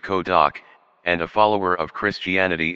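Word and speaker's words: Cơ Đốc: In Vietnam, the same two characters read Ko Doc, and a follower of Christianity is a Tin Du Ko Doc Jiao.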